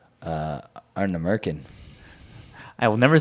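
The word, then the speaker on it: Ardnamurchan: gonna say Arna Merkin. I will never say that distillery's name because I don't even know how to pronounce That it.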